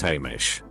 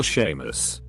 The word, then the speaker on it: Hamish: So I would say my name is Hamish. But they would say oh hi Danish or Seamus.